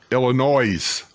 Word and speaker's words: Illinois: Illinois, with an S. Illinois. People in Illinois hate that. They tell you that the S is silent.